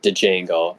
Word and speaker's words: Django: uh they called him Django and then uh jeno's just like yeah the D is silent and then he kills